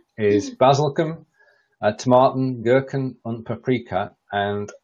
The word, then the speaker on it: Basilikum: Basilikum is the word. The pronunciation wasn't almost there. Basilikum.